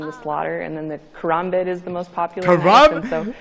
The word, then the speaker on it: Karambit: The fade is the most popular and then the slaughter and then the Karambit is the most popular Karambit?